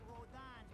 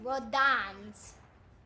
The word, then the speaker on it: Rodin: At least let me get a drink at Rodon's before Rodans. It looks more like rodents. I got Why does he call it No, Rodans? no, it is pronounced Rodon.